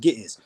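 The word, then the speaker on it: Ge'ez: So again when you and then the language is actually amharic or they speak gis in the church is pronounced gis.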